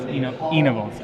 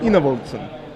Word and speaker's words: Enevoldsen: So Thomas Enevoldsen. Enevoldsen. I think you have to pronounce it low. Enevoldsen.